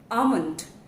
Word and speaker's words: almond: The correct pronunciation is almond, almond, almond, almond. L goes silent here and the right pronunciation is almond.